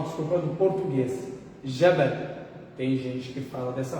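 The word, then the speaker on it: جبل: Ia ser Yabal, como nossos irmãos no Bahrein e alguns lugares da Península Árabe. Eles pronunciam o que? O Jim, a letra Jim, como se fosse o Ia. Como se fosse o Ya, que é essa letra no árabe, né?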